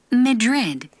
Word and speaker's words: Madrid: Madrid. 요거 강세가 뒤에 있어요. 그래서 앞이 성이 없어. Madrid. Madrid. read만 잘 발음하면 돼요.